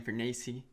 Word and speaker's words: Fornace: For all you guys who don't know me, I'm Fornace.